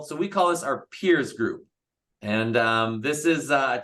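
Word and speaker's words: piers: I know some people may think PEE, but RS, but it's peers, like the right, the structure out into the bay or the water.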